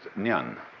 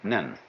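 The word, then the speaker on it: 念: They have a very interesting sign this it's pronounced nyan in Japanese nen and the top part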